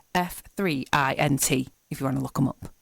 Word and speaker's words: F3INT: now the band has it's spelled faint but that the e is a three so it's F three int if you want to